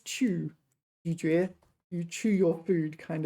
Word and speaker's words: 咀嚼: 咀嚼. Third tone, second tone, 咀嚼.